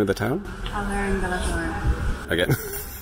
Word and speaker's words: Alhaurín de la Torre: Alhaurín de la Torre. Again? Alhaurín de la Torre. There we go. Perfect Spanish pronunciation from the local Mancunian.